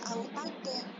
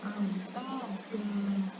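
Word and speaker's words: أَوْتَادًا: Dia tidak dibaca autada, tapi dia dibacanya autada.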